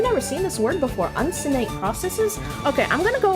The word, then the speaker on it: uncinate: How do you pronounce it? Uncinate.